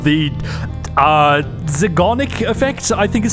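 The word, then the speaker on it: Zeigarnik: While researching stuff for this video, I found something called the uh Zagonic effect, I think is how you say it. Zyenic effect. Zarnic.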